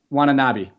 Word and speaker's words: Watanabe: Watanabe.